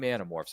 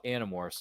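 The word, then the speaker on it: Animorphs: Might be Paramount Plus, or maybe is it HBO Max, one or the other, you can stream Anamorphs and I would encourage you to check it out if you're into that sort of, you know, sci-fi mystery kind of stuff.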